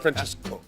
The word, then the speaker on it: Francesco: Francesco, did I say it right? Francesco.